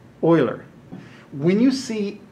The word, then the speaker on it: Euler: swiss mathematician and so his last name is pronounced euler when you see e that's euler's number and